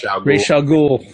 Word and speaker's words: Ra's al Ghul: Ra's al Ghul.